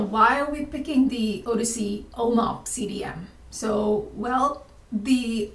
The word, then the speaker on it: OHDSI: data sciences and informatics odyssey and it's pronounced as odyssey as in you know homer's odyssey it's an international collaborative